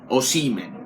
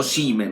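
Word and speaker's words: Osimhen: non giovani o siemens si dice con l'accento sulla i seamen o seamen l'ha detto il fratello lo saprà il fratello o seamen ricordiamoci questo o si me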